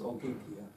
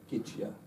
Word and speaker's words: Ogygia: islands, 10 sacred islands known as Ogygia, or Ogygia, hence how you pronounce it.